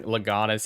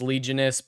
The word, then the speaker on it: Legionist: all right let's yeah I always pronounce your name wrong legatus it's kind of expected at this point I know it's legionist but in my head I do the extra syllables in there I'm not sure why